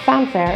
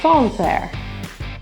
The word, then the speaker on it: Sancerre: The A in Sancerre is actually a little bit more rounded. So it's not Sancerre, it's Sancerre. Sauterne.